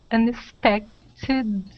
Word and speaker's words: unexpected: Unexpected. Yeah. Yeah, unexpected. Okay, unexpected. That T we can change to a D sound.